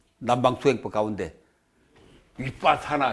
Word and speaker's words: 위빠사나: 뭐 남방 투행법 가운데 위빠사나 위빠사나 위 빡 사 나 저 발음도 여러가지로 많이 하는데 저게 표준 발음입니다 윗밭 사나 빠사나가 먼